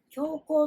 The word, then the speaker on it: 強行: その他には、強行と読みます。